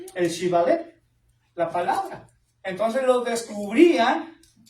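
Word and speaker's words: Shibboleth: pronunciaba erróneamente por un sonido de S en lugar de SH, pues los exhibía, siendo un indicador único de su dialecto. Sí, porque no podían pronunciar el Shibalet, la palabra.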